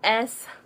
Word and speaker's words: S.Lee: And now I changed it to S.Lee. And, well, my name is and my middle name is Lee. So S.Lee. And that's how you say it.